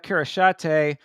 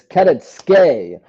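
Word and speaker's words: Kareckaitė: And again, speaking of contender series, next up is Ernesta Kirishate versus Nicole Cagliari. Cagliari, another contender series fighter. and I'll actually correct you. It's Keretske is how they say it.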